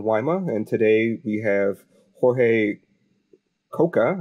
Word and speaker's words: Jorge Coca: I'm your host, Alan Wyma, and today we have Jorge Coca, I hope I said that correctly, Yes, and you did.